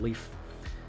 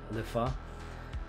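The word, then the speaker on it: Leffe: It's called Leaf, according to the French pronunciation of the word. Otherwise, I think it's Lefa, but Belgian ale.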